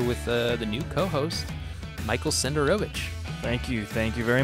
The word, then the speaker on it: Senderovich: So today I'm here with the new co-host, Michael Senderovich. Thank you. Thank you very much for the proper pronunciation of my last name.